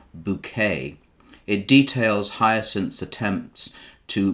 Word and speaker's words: Bucket: plays the character of hyacinth bucket which she insists on pronouncing as bouquet it details hyacinth's attempts